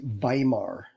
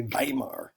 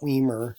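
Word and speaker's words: Weimar: Um, and that is pronounced Vimar. Okay, Vimar. Uh, not Wimmer. I know that's what it looks like, but you see the W's in German. It's always with a V, right? Vimar.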